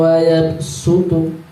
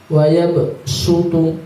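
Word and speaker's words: وَيَبْسُطُ: Ini bacaannya shad, hurufnya shad, tapi dibaca sin. Hurufnya shad, tapi dibaca sin. Surat Al-Baqarah ayat 245. Wallahu yaqbidu wa yabsutu. Wa yabsutu biasa. Aslinya wa yabsutu pakai shad, tapi dibaca sin.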